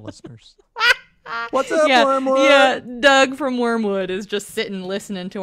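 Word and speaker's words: Wyrmwood: get on their website it's wormwood i think wormwood gaming perhaps and it's worms spelled with a y yeah w-y-r-m gotcha yeah so i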